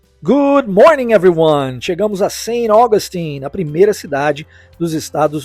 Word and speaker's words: Saint Augustine: das vezes eh terá a pronúncia da letra T sendo omitida aqui então ao invés de pronunciar Saint é pronunciado sem e a uma junção com a próxima palavra Augustin que igualmente possui a sua sílaba tônica mais forte no início da palavra portanto sa Augustin é a correta forma de se pronunciar o nome dessa